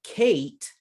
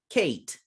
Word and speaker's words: Kate: silent sounds for example in the name kate i do not hear this e at the end kate in english this silent vowel is a sign it's a signal it tells us that the previous vowel the a sounds long so i don't